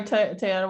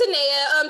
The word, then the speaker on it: Tenaya: Oh, sorry, Tayana, what was the question? It's Tenaya. Just talking Tenaya, about sorry. how you pronounce the GEMES principles.